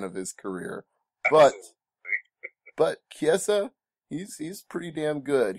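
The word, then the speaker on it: Chiesa: ch Kessa I I'm sorry to keep correcting you on pronunciations but it's Michael Kessa Kessa yes did you realize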